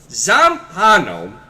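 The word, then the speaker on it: Zampanò: Zampano, there's an accent on the final O, is Jorge Luis Borges.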